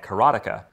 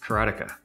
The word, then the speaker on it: Karateka: A lot of people say Karateka or Karateka. In Japanese, there's no stress on any syllable, so it would be Karateka, something like that.